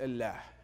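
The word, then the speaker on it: الله: this regard the word Allah in Arabic is pronounced Allah and it's rooted in Aramaic which is rooted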